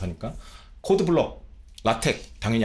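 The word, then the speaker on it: LaTeX: 블록 렌더링 가능해진 거고 라텍 가능해진 거고 이거 이제 영어쟁이 분들한테 라텍스 아니고요. 라텍스 아니야. 이건 기술적 용어기 때문에 라텍이라고 읽어요. 라텍 tx가 테크라고 발음이 되는 거야. 라텍이라고 읽는 겁니다.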